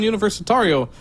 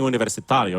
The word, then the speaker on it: Universitario: Hence the reason why I've been saying Universitario is because if this was a Portuguese pronounced team, that would be the correct way to pronounce it in Portuguese.